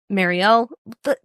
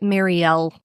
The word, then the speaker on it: Mariel: We then cut to Marielle. That's the thing. Okay. So, like I'll probably say it Marielle or Mariel. They say it Marielle in the audio book.